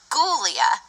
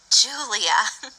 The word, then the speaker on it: Ghoulia: I meant to say my name is gulia not Julia she giggled for our